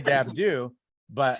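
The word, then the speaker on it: Dabdoub: But I think my family was trying to act like they were from Louisiana, so they wanted it to sound French, so they didn't pronounce the B at the end. So we say Dabdoo, but a true Palestinian is going to say Dabdoob, and they'll actually say it really fast.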